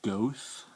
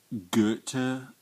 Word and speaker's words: Goethe: says j w vaughn i was pronouncing it ghost for a long time until i went to israel two years ago and my smart british friend said it's pronounced guter gupta i don't know some